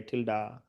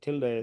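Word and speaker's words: tilde: This symbol is called a tilda. So it's very very powerful stuff. That's very unique. This is called tilda. Tilda. Tilda. Some people they say till day. Some people say tilda. So usually pronounces tilda.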